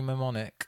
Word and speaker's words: mnemonic: You seen Johnny Mnemonic or Mnemonic or Mnemonic? Mnemonic. Mnemonic? Yeah. Mnemonic, yeah. Spelt with an M though. Is it a silent M? Oh, no, it's MN.